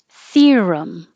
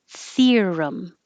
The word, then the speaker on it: theorem: Theorem. Theorem. Voiceless TH.